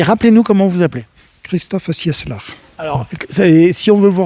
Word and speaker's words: Cieslar: Christophe Sieslar. Oui, alors justement, c'est là où c'est compliqué. Oui, alors Sieslar, ça s'écrit C-I-E-S-L-A-R.